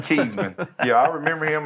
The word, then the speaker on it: Kezmond: Yeah, made he said everything- Kezmond. That's how you say my name, Kezmond.